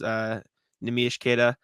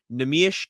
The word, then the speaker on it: Neemias Queta: Speculation maybe Wenyen got waived because Neemias Queta played well, by the way. Got pronunciation from him.